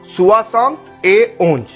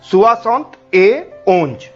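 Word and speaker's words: soixante et onze: लिखते हैं ए, that is ET जो लिखा हुआ है इसको हम ए पढ़ेंगे। तो 71 will be 60 60 ए एंड 11 will be ओंज। तो 71 विल बी 60 ए ओंज।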